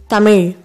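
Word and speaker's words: தமிழ்: That is, you should bend your tongue back.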